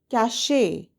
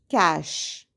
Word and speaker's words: cache: The letter E at the end of the word confuses many of us and we say cache. However, the correct pronunciation is cache.